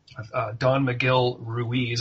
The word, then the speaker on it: Don Miguel Ruiz: Don Miguel Ruiz, if I'm pronouncing that correctly.